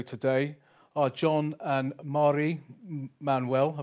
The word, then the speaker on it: Manuell: Our guests in the studio today are John and Marrie Manuell. I pronounced that right?